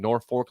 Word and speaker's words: Norfolk: what I said that sip is staying in Norfolk last night yes someone says I just appreciate that Jake is pronouncing Norfolk correctly listen I lived in Nebraska